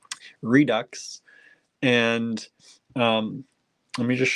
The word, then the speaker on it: Redux: for about 100 years I kept saying redo redo I thought it was French Redux and um let me